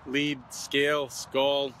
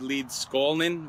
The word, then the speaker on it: Leedskalnin: scout uh edward lead some people say lead lead scale skull it's probably edward leeds skalnin would probably be the pronoun a proper way of pronouncing it the immigrant from latvia